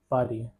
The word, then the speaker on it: Paris: Pronunciation is Pari.